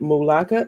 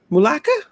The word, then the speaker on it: Mulaka: You get Mulaka. Is that how you pronounce it? Mulaka? That's how I would say it. Yeah, Mulaka.